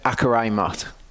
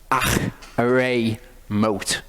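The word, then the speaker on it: Acharei Mot: In Hebrew, I'm not going to go too much into this, but when you see a CH in Hebrew, don't pronounce it as a K sound. It's not a K sound.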